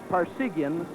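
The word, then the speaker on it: Parseghian: I remember being at a banquet with you and you told the toastmaster that's pronounced just like par like in golf, sig like in serums whiskey, and yen like in Japanese currency.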